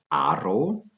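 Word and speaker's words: Haro: capital the important towns of Rioja are called Arrow the age is not pronounced therefore arrow and the second one is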